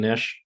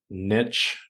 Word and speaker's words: niche: are in the coaching Niche Niche Niche yeah all of those are correct pronunciations depending on who you ask anyways when you're there